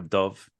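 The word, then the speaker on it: dubh: Or dove meaning black. The old pronunciation being do.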